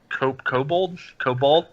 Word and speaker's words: kobold: Kobold? How's that pronounced?